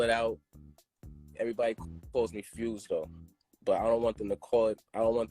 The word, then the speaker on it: Fwz: on your name um my name is fwz but it's pronounced fuse I spell it out everybody calls me fuse though but I don't